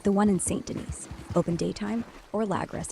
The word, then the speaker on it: Saint Denis: Head to the nearest post office, like the one in St. Denis. Open daytime, or Lagras if it's Remember, closer. Pronounced Saint Denis. Yo, Goob, my bad. San Denis it is, Flim.